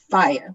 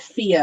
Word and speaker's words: FIYAH: Subscribe to Fire Literary Magazine, FIYAH, and it's pronounced Fire with the hard I, like and not fire. 2 E's. Yes, oddly like fire, like our logo and everything. Not Fia, as you may have heard elsewhere.